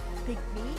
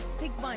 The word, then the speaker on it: PYG: I did ask them do you pronounce as pigm or piggy they do always announce themselves a pyg pigm is not wrong they just say something